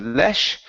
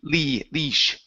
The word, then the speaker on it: leash: Okay, this is a long E sound instead of lesh. It's E-E, leash.